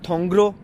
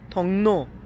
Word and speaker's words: 통로: और उसके बाद था थोंगरो, थोंगरो। अच्छा फ्रेंड्स मैं आपको बताऊं, ये लफ्ज़ लिखने में जो होगा ना वो थोंगरो होगा, लेकिन इसकी प्रोनाउंसिएशन जो होगी वो होगी थोंगनो, थोंगनो।